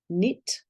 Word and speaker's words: knit: do it birthday is k n is known as the silent k is letters are named K and N but when they're together they sound like um as in no knit not knowledge knife need